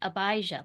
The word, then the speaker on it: Abijah: Abijah like Abide and then Abijah was king of Judah.